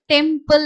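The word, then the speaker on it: temple: ஃபார் எக்ஸாம்பிள் முன்னாடி நான் சொன்ன மாதிரி டெம்பிள் அப்படின்ற வேர்டை நம்ம எழுத போறோம் அப்படின்னா டெம்பிள் அப்படின்றத மைண்ட்ல வச்சுக்கோங்க. டெம்பிள். ஸோ இப்போ இதை வந்து எழுத போறோம். டேக்கு டிஏ டே இல் இ வந்து சைலண்ட். ஓகேவா?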